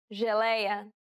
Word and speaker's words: geleia: The letters J and G can sometimes be pronounced like J. It sounds like the S in pleasure.